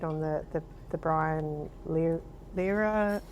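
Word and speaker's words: Lehrer: that you did on the the the Brian Lera, how do I pronounce Brian Lair?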